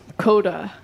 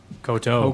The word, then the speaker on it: koto: Oh yeah, God, I'm so bad at pronouncing things. Whatever they said, that's a Japanese instrument. Coda. Koto.